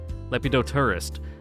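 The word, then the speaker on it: Lepidoptera: Lepidopterus. But the ter right there, it's the PTER, like pterodactyl, where the P is silent.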